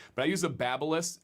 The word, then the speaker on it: Babyliss: I have a Babyliss, which is the proper way to say it, because I actually met one of the company higher ups at the Barber Expo. Some people say Babyliss, which is what I used to say, but I use a Babyliss.